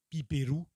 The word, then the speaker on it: Piper: Piper, en japonais ça se dit Piperu, car on prononce toutes les syllabes au Japon.